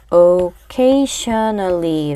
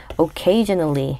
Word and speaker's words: occasionally: 자, 이거 그냥 스펠링만 보면 occasionally 라고 소리 내야 될 것 같은데 이 션으로 보이는 부분을 전으로 소리 내셔야 돼요. 그래서 occasionally가 아니라 occasionally 라고 표현하시면 됩니다.